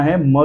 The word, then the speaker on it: hymn: Than हिम, HYMN। हिम का मतलब क्या होता है? भजन, कीर्तन। HYMN, हिम तक ही पढ़ना है।